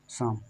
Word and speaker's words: psalm: अब देखो यहाँ पर जो लिखा है इसको हम शाम पढ़ेंगे, क्या पढ़ेंगे, शाम। अब इसको शाम देखो, इसमें जो एल है एल भी नहीं पढ़ेंगे, क्योंकि ये हम एल